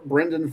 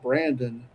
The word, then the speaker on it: Brendan: He's like, he's like, "It's Brendan, not Brandon."